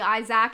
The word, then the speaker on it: Isaac: children malachi and isaac which is actually isaac if you want to say it correctly that's how we say